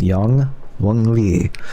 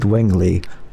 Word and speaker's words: Wingly: love him young willingly that is not not his name it's young wly okay although some people pronounce it wingly because they don't know how to pronounce Chinese names anyway oh boy that